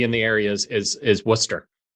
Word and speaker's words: Worcester: the area is is Worcester Worcester of course I love it yeah you you wouldn't you wouldn't pronounce that correctly if you saw it spelled nor could you spell